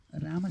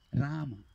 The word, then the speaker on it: Rama: Invece Rama si pronuncia come con la prima A lunga, la seconda corta.